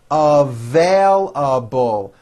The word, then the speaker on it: available: left you a message available with a strong v m it also has four syllables available available those shoes are